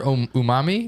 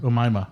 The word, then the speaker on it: Omaima: did you just call her Umami Nelson? Is that- Omaima. Umaima. You called her Umami? fuck. I'm Umami. gonna get canceled. I mispronounced her Omaima ethnic name.